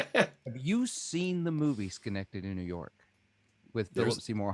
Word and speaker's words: Schenectady: So reading on your website, I also noticed, and you may have to correct my pronunciation. Sure. Sort of started in Schenectady, New York.